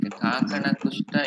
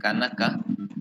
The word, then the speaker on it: Kakana Kushta: And while explaining, you have mispronounced few things like Kakana Kushta, you said Kanaka.